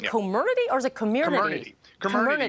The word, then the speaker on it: Comirnaty: Comirnaty, because part of the amalgam is community.